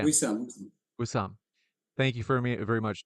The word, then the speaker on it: Wissam: Wissam. Wissam.